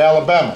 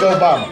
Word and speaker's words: Obama: Although they wouldn't say it right. And they call me Alabama. Or they call me your mama. And I'd have to explain I'd have to explain my name's Obama, that my father was